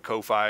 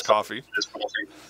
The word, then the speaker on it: Ko-fi: Some people call it Ko-Fi. It is Coffee.